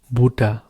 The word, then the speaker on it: Butter: say butter in German it's the same like English one uh the spelling is same you can see butter but you're saying German buha okay the buha so butter